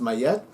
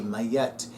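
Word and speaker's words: Ma'at: but in English it's Robert she said it's pronounced mayette I'm not going to argue with her at all so may yet capital M lowercase a apostrophe lowercase a lowercase T mayette the Egyptian goddess of truth justice and Cosmic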